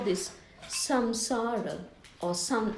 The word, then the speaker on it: samsara: I will show you how this samsara, or sam, actually it's, even though it's written as sam, it's pronounced as san, samsara, sansaric accidents.